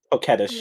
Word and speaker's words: coquettish: Coquettish, apparently.